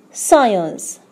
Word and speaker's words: science: First one, the silent C usually follows the letter S. As examples, scene, science.